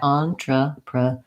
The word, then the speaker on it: entrepreneur: And in the dictionary, we see that the stress comes on the last syllable neur in this word. That's because we can see there's a small diacritic here to mark that that's the long syllable.